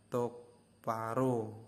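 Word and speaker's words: 똑바로: kok enggak tok Baro karena BBnya bertemu dengan kiok jadi salah satunya Jika Bertemu maka BBnya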